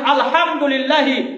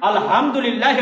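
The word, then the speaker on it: الحمد لله: আর আপনি যদি এখানে পড়ে নেন আলহামদুলিল্লাহি রাব্বিল আলামিন, ছোট হার জায়গায় আপনি বড় হার জায়গায় আপনি ছোট হা উচ্চারণ করেছেন, এর মানে কি হয়ে যাবে জানেন?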